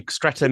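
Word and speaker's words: Streatham: portrait stram it's not it's actually stram is a part of South London it's not far from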